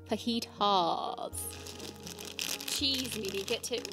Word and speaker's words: fajitas: 60% cassab FYI it's not pronounced fajitas it's pronounced fajitas faitas it's not liosa it's liosa it's not fajitas it's faitas cheese get it right all right I've learned